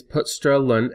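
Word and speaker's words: putStrLn: double quote characters thus this declaration can be pronounced as main is put sterlin hello world semantically speaking this program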